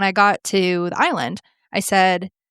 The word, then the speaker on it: Islay: This is a single malt.